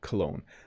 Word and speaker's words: cologne: perfume or too much clone by the way women wear perfume and men wear cologne and i'll pronounce that one more time cologne i don't wear clone by the way i